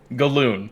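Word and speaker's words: galloon: Galoon. It's spelled exactly like balloon, only with a G.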